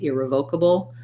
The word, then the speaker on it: irrevocable: Yeah, I don't think we can say irrevocable. Let's double check that in the dictionary because it does. I do want to just make sure that sometimes there's more than one correct pronunciation for something. I know irrevocable is correct, but whether or not you can also say it like irrevocable, because something could be revocable, right?